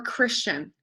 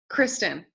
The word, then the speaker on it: Kristen: so good okay Chris how do you pronounce her name Kristen or Christian Kristen okay I just like